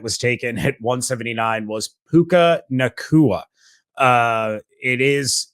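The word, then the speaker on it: Puka Nacua: taken at 179 was puka nakua uh it is it is actually pronounced the way that it is basically spelled there um but yeah overall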